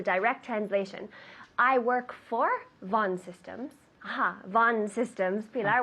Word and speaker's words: Von: the V Von systems Von systems systems one system perfect people I've been practicing Von systems with the v v o n Von it's a quite common last name Richard Vaughn right it's a common